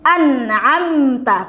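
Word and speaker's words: أنعمت: Kemudian di an'amta, perhatikan huruf ain ya. Huruf ainnya jangan tertukar dengan huruf hamzah ya.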